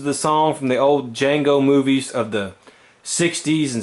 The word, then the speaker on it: Django: name he says yes I know the D is silent you know I love